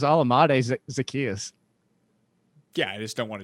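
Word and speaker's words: Olamide Zaccheaus: It's not that hard. It's Alamade Zacchaeus.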